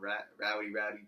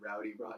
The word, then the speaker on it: Roddy: I kept on like calling him Rowdy Piper instead of Roddy Piper, but it was fun, man.